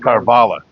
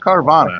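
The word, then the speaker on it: Karvala: On the other end of the floor, I thought Vaughn Carvala, is that how you say it? Carvala. Yes. Carvala, that's what I was trying for there. Not Carvana. Carvala.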